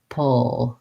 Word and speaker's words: pull: front of the tongue for the o oh for the l oh pull so i'm the p is just closing my lips and still performing that old sound so again building from the back might help pull people um it's not easy